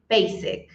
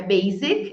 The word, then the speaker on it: Basic: fácil mas muitas vezes a gente acaba pronunciando ela com som de e de Z Basic Basic e Mas é com s não é Basic é Basic com som de s bem essa aqui também